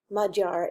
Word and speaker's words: Magyar: major groups and yes it looks like the word magyar but it's actually pronounced mud jar it's Hungarian so the first group